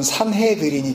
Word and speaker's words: 산헤드린: 오늘 47절 말씀에 공회라고 번역한 헬라어 단어는 시네드리온인데요. 히브리식 발음으로 하면 우리가 잘 알고 있었던 산헤드린이 되는 겁니다.